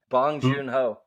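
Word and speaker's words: Bong Joon-ho: God my name's today how do you say bong junho thank you bong junho's Mickey 17 uh starring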